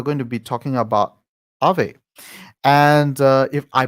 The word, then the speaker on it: Aave: it is it pronounced ave that's the first question i would like to ask yeah yeah yeah yeah exactly so it's uh ah so uh it comes from the finnish word uh ghost so that's why we